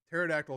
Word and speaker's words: pterodactyl: Pterodactyl starts with a P, so.